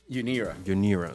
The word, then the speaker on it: UNIRA: and of course your technology app, and you pronounce it as UNIRA.